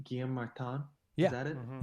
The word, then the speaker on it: Guillaume Martin: First today, I think this is how you say his name, Guillaume Martin.